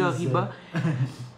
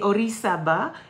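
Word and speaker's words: Orizaba: dire le vrai mot parce que j'aurais dit oriba le picot des orisaba qui est un des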